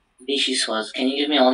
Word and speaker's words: vichyssoise: Vichyssoise.